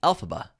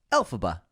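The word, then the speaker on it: Elphaba: wicked witch alphaba was created by taking a phonetic pronunciation of the original Wizard of Oz author L frank bomb's initials which are lfb which became alphaba alphaba very cute cool right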